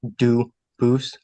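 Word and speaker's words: Dubois: get your name straight I know a family with that the same exact spelling in America they do pronounce it dubus but you said you pronounce itose as the original du Boo as the original French French yep very well Duo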